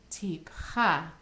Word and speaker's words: Tipcha: As each of these trope symbols actually has a name, if you've noticed, they all have the syllable, their accented syllable on the end. Mercha, tipcha, mercha, Sok Pasuk.